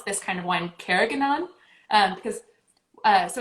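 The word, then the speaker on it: Carignan: to call this pronounce this kind of one karaganon um because uh so it's pronounced cairnion but um these oh that's probably coming through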